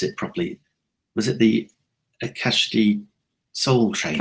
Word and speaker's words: Akashic: And I can never pronounce it properly. Was it the Akashic Soul Training? Akashic Record.